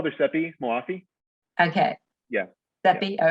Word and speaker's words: Moafi: actress oh uh sepi we call their sepi moafi okay yeah that be all right i just